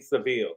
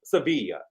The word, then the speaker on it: Sevilla: Sevilla. I feel like that they shouldn't if y'all want us to say Sevilla, y'all need to make something that rhyme with Sevilla instead of putting Univil cuz you know we going to say Seville.